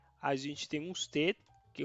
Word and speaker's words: usted: Preste atenção na pronúncia. Usted, ustedes, tá? Singular, segura esse D final e aqui pode falar um pouco mais o D e esse, tá bom?